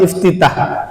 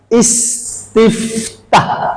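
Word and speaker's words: استفتاح: Nah, doa iftitah. Biasanya kan kita bacanya iftitah. Kalau dalam tulisan Arab itu bukan iftitah, tetapi istiftah.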